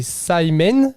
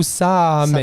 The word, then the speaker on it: Samhain: Donc ça se prononce, désolé pour la prononciation, c'est Samhain ou Samhain. Samhain. Voilà. Samhain. S-A-M-A-I-N. C'est ça.